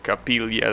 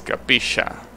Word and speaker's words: capilla: The problem is, for some reason, Argentinians don't like to pronounce that double letter, so instead, they pronounce it like a sh.